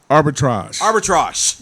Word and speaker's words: arbitrage: Arbitrage.